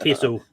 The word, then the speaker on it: Kessel: Well, I'll actually go with Simone Kessel. Is that how you say it? Kessel. Yeah. Oh, Kessel. The things throwing me off. Those are L's.